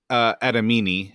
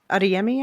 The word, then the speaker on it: Adeyemi: Anyway, with Cardinal Adamini, is that how you say his name? Adeyemi, I think.